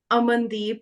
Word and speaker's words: Amandeep: sometimes it might be pronounced as ah. So if we have the name Amit, Amol, Amandeep, it's just a.